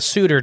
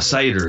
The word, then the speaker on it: satyr: Like a suitor, too. Like, what? How do you say that? A suitor? I can't ever remember it. The goat man hybrid thing from. Oh, a satyr.